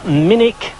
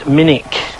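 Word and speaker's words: Minack: here farewell never mind anyway this is the minik theater it's spelt minak but it's pronounced minik and it's brilliant open air theater right on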